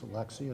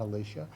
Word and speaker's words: Alexia: I know your name is Alexia, not Alicia.